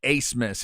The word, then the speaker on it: Abmas: The name has got A-B right there at the beginning, but it's pronounced Abmas. Have we heard a reason why?